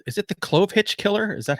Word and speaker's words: Clovehitch: So tonight we are going to dive into a movie called, is it The Clovehitch Killer? Is that how you say it? Correct. Clovehitch.